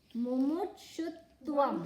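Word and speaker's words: mumukshutvam: Mumutshutvam.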